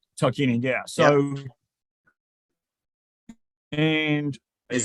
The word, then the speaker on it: Tarkanian: I think his name is, oh goodness, I'm going to pronounce this wrong. Tarkanian? Tarkanian, yeah.